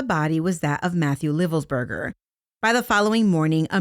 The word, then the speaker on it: Livelsberger: Army Master Sergeant by the name of Matthew Livelsberger, and I've also heard it pronounced Livelsberger.